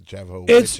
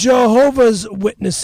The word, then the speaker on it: Jehovah's Witnesses: The Java witness. It's Jehovah's Witnesses. Just stop saying it wrong.